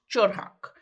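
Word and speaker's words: 철학: okay the world of philosophy in Korean is pronounced chorak it's literally means the study of wisdom so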